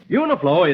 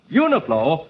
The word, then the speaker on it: Uniflo: remember to tell him about uniform or Royal uniflo is spelled u-n-i-f-l-o uniform motor oil is sold at